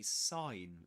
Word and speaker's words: sign: So, the the the G is silent. This letter is silent. We don't pronounce it. There you have it. There you have it. You say sign sign.